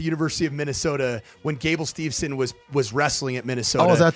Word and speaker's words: Steveson: MH for mispronouncing Gable Stevenson's last name I thought it was Stevenson it's Gable stevon it's St so I